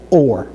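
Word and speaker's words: אור: The whole lom with the I mean the vav with a whole lom above it gives the alf an o sound. And then so we have the alf the vav and the uh rash and that pronounces we pronounce that as or or that means light.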